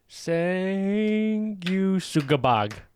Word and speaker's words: Sanguisugabogg: If you enunciate it and just like the trick is enunciating and literally pronouncing the 2 G's in the middle, and then you got it. Ooh. Sanguisugabogg.